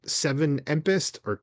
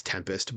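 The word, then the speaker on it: 7empest: And then we have Tool with, is it Seven Empest? I know it's Tempest, but it's like you're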